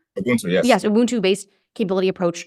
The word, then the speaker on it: Ubuntu: your papers on this, like, I believe it's pronounced Ubuntu. Ubuntu, yes.